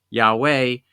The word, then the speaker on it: Yahweh: it's just simply the the earliest Church pronounced it yah way the the holy name